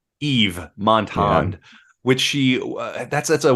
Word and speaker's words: Yves: I think it's just Eve. Eve Montand, which she that's a word that's always bugged me.